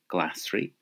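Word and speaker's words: glasraí: Vegetables are glassry. Glassry. And that's related to the word glass, meaning green. Okay, glassry.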